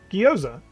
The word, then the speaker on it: gyoza: hold on a second here's uh how to pronounce gyoza gyoza okay that is how you pronounce it that's the american pronunciation